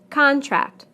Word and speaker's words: contract: Contract, contract. Object, object. Permit, permit. Again, we stress the first syllable in the nouns and the second syllable in the verbs.